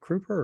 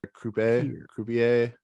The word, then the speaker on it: croupier: Is it Crouper or Croupier? Croupier, Croupier. Huh. croupier, Said that all wrong.